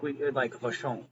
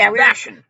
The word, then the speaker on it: Vashon: We kept overly pronouncing it, like Vashon or whatever. It's Vashon. We were trying to fancy it up, dirt.